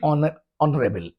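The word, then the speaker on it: honorable: दूसरी बात, ये एच से शुरू जरूर हो रहा है, लेकिन हा का साउंड नहीं आ रहा है, क्योंकि वो साइलेंट है, एच साइलेंट है। इसलिए एन ऑनरेबल, an honest, N एयर,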